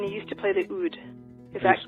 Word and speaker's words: oud: And then you used to play the oud. Is that pronounced correctly?